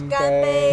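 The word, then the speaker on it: 干杯: Ganbei. Ganbei.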